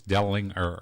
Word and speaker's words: Dellinger: It's neither. It's none of them. It's Dellinger. Yes. The G is silent.